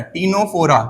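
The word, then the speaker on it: Ctenophora: टीनोफोरा। क्या होता है? टीनोफोरा। तो यहां पे सी क्या है? साइलेंट है। क्या आएगा? साइलेंट है।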